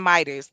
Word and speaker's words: Midas: No, Midas doesn't have a T in it. It's Midas. That's my country ass accent, but it's Midas with no T.